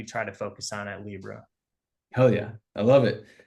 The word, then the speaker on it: LLIBRA: cover today uh so Libra it's spelled a little bit odd it's l l IB r a.